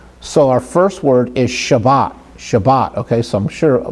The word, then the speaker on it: Shabbat: I'm not sure if you knew that or not, but when we say Sabbath, that is actually an English version. Shabbat is the Hebrew version.